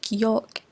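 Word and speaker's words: Gulag: As you can see, the word here is pronounced as geolog.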